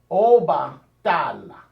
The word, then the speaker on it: Obatala: So Obatala. So that's how I like to say it, Obatala, because the word Oba is a word, and then Tala is also words in the Yoruba language.